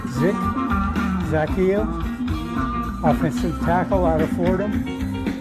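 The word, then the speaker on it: Zakelj: hardest name on the whole roster here to pronounce it zacchaeus offensive tackle out of fordham he's 6'6 and 316 pounds he ran a 5 13 40.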